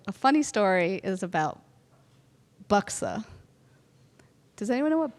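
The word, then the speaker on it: Buxar: Well, a funny story is about Buxa. Does anyone know what Buxa is? Okay, it's spelled B U X A R, but you don't pronounce the R.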